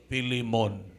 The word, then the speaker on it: Philemon: Kung daw ilonggogid nga pang pronounce, Philemon.